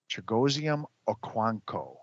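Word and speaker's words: Chigoziem Okonkwo: That's a pronunciation, Rob. Chigosium Quanco. Okwanko. Chigosium Okwanko.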